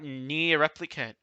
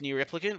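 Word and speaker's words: NieR Replicant: Okay, and we're gonna talk about Near Replicant. I'm probably butchering its name. I don't think it's pronounced Near Replicant, but like we'll go with that. No, it is pronounced like that.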